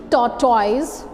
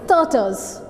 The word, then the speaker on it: tortoise: Hare and tortoise, where you speak tortoise, but this is not tortoise at all. This is turtles. This is turtles. Turtles. Turtles. In a way, this OR is silent here. Turtles. And OISE, this is turtles.